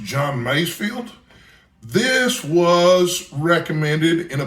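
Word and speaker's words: John Masefield: of delights and I believe the name is pronounced John maysfield this was recommended in a book I have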